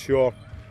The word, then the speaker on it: Saor: But shore, pronounced shore, comes from the Gaelic Sjosa, which stands for freedom,